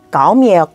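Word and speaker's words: cộng: 거죠 못감 더하기가 뭐라고해 감이에요 껌이 아니에요까 성조가 낮아져야 돼요까 힘드네요 계속 낮은 발음을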